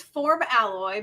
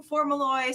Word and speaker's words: FormAlloy: is the the proper pronunciation so the proper pronunciation is form alloy because that's what we're doing but it rolls off the tongue for Maloy so you know we kind of answer to